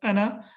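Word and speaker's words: أنا: basically in Quran or in Arabic language, ana is always pronounced with one haraka. It's not pronounced as harf mad. So it will not be pronounced as ana. It will be pronounced only as ana, which is basically means like this.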